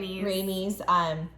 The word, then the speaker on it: Rhaenys: This leads to, Rhaenys, did I say it right? Rhaenys, being locked up in her room.